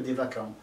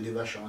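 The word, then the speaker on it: Devachan: dans ce qu'on appelle le dévacant, ou le dévachant, ça dépend comment vous le prononcez, hein, puisque c'est un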